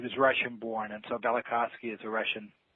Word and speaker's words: Velikovsky: that pronounced bellick hacienda Velikovsky heresies okay so that v is kind of silent that's right it sort of is the man Immanuel Velikovsky was a friend and